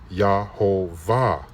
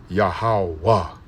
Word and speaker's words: Yahawah: The pronunciation that they have is Yahovah, which is incorrect. That last portion, now the first two pieces there where it says Yaho or Yaha, Yahau, Yahau, it should say Yahau. And actually we can pronounce it that way, Yahau. And then that last part with the V, the Va, it should be Wa, Yahawah.